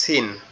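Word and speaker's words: س: এই সিনটা কোথা থেকে উচ্চারণ হবে? সিনটা হচ্ছে আপনার জিহ্বার আগা সামনের দুই দাঁতের গোড়ার সঙ্গে লাগবে, আগার সঙ্গে লাগবে। জিহ্বার আগা সামনের নিচের দুই দাঁতের আগার সঙ্গে লাগবে। সিন সিন সিন সিন সিন সিন।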